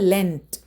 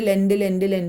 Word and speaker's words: lent: ചിലവർ ലെൻഡ് എന്നാണ് പറയുക. അതൊന്നുമല്ല.